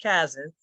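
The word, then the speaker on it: CCASN: we at UC Berkeley's College and Career Alliance Support Network, pronounced Kazan, we're very grateful to join in this intriguing, inspiring, and courageous endeavor.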